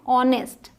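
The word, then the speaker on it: honest: यहां व्यंजन के लेकिन यहां पे ये जो ह है ये साइलेंट होता है हम इसे पढ़ते हैं ऑनेस्ट आप देख सकते हैं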